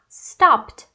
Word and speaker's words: stopped: Então, nesses casos aqui, por exemplo, a gente vai pronunciar com T no final. Então, a gente tem stop, P é uma consoante não vozeada, então vai ficar stopped, stopped.